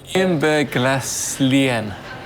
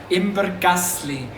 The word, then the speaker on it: Imbergässlein: Imberglaslien. Imberglaslien. Did I finally get it right? I think I've been saying it wrong all day. Imbergasli.